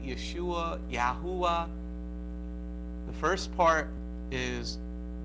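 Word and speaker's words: ישוע: is yes you were right the the proper pronunciation of the word is Yeshua it is your shin Bob ayan Yeshua oh not yahoo ah yes a basil you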